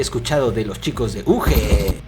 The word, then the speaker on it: Ugee: de los chicos de UG, o creo que se pronuncia Yuji.